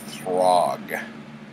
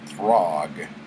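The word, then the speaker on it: Thaug: who we find out's name is Throg. And I think it's Throg because it rhymes with frog, and this thing is like a giant frog monster, which we will find out later.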